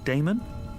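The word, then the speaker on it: Daemon: How do you pronounce that? Damon, if you prefer.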